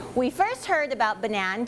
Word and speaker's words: Banan: we also love that people don't know how to pronounce it. There's tons of people saying Banan or Banan, or sometimes we even call it Banan.